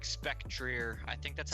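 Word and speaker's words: Spectrier: could be some i think ghost horses like spectreer i think that's how you say it oh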